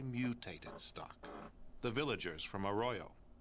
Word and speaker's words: Arroyo: stock the villagers from Arroyo so that's how you pronounce I've been saying like a grow this all the time for the project it's